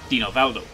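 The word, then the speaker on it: Dinovaldo: a western name but pronounced in a Western Way this would actually be Dino valdo now dino valdo is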